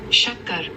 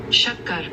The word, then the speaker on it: Shakkar: Okay, so this is how you pronounce it, which I'm not sure I can do justice on how to pronounce it. Shakkar. Shakkar.